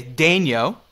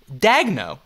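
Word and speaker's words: Daigneault: Thunder for instance mark what I would say Daniel like a JJ Daniel but he says it's Mark dagno yeah which drives me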